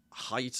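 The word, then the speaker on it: Haidt: height he mentions and it is height by the way I think I've read on his website somewhere it's to pronounced height.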